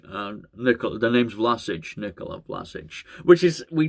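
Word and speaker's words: Vlašić: So it's Vlasic, the name's Vlasic, Nikola Vlasic, which is, we just know what happens on this channel.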